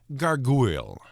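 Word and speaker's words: gargouille: rather to be named gargoyle it's pronounced the same but spelled g-a-r-g-o-u-i-l-l-e and it's a french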